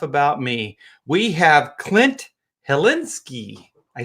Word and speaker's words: Hilinski: We have Clint Hilinski.